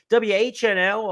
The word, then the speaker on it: WHNL: uh Remsen winner uh whnl a horse who uh is named for the four initials of four of the owners w-h-n-l was the pronunciation Danny gargan sends this